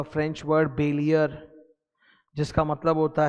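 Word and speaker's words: bailler: तो इट्स a French word बैलियर, उससे निकल के आया. उसका प्रोनाउंसिएशन बॉलियर नहीं होता, BALL, बॉलियर नहीं होता, बेलियर होता है, तो उसी से वर्ड मिला बेलमेंट.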